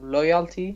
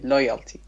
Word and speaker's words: loyalty: Or loyalty. First syllable, yes. Okay, loyalty. Yes.